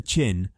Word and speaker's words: Qin: he became king of the chin pronounced chin State at the age of 13.